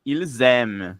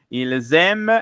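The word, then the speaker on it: ils aiment: Ilzem. Muito bem. Ilzem. Elem. A gente não pronuncia o nt, tá bom? E o e fica com o mesmo som do singular.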